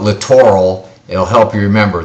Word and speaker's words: littoral: you need to learn this word littoral sometimes pronounced literal but that sounds too much like the other word literal which means you know exact exact word the literal translation so i'll call it littoral it will help you